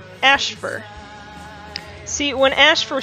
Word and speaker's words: Ashfur: the Russian word for moon landing, and it's pronounced Ashfur.